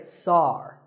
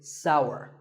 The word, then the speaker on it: sour: what about this taste it's pronounced sour some people say Tsar that is a mispronunciation the only correct way to say this word is sour many words in the